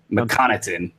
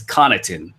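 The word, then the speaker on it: Connaughton: it's not Pat mccon known as Pat Conan by actual name I just can't say his name without adding a McDonald's prefix mccan it's it's conon Pat con but he's out Jake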